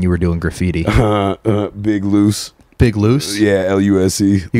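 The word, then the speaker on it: Luse: Oh, just Big Loose, yeah. Yeah, so okay. Lucien, just drop the E-N.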